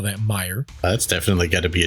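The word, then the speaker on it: Meijer: um some people would say it is uh pronounced miger because it's emia m e i j e r we would call that Meer that's definitely got to be a German thing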